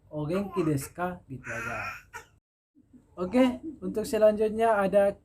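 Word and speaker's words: お元気ですか: dihilangkan baik itu di akhir kalimat maupun di tengah-tengah maka umumnya dihilangkan jadi dibaca dengan ogenki desuka bicara oke untuk selanjutnya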